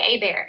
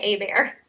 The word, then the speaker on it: Hebert: We say A-Bear. It's spelled like A-Bear. But it could be something else. So Cambria Hebert, maybe? I'm not sure how anyone else pronounces it, but we say A-Bear.